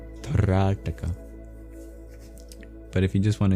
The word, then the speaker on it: Trataka: It's called Trataka. Trataka. Trataka. The first A is long, and the second T is retroflex. You curl your tongue back for pronunciation purposes. Trataka.